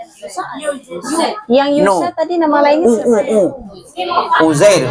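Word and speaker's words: عزير: Jadi kalau yang tadi Uzair yang Yusa tadi nama lainnya Uzair. Uzair itu ejaannya ain za ro ain. Uzair. Uzair. Uzair. Uzair. Ya. Ain ya. Awalnya ain. Ain.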